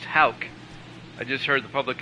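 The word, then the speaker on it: Houck: anyway next up Tanner Hawk 89 Tanner is pronounced Hal I just heard the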